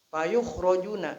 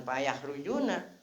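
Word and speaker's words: فَيُخْرَجُونَ: Fayukhrojuna. Jangan payah rujuna bacanya dikeluarkan.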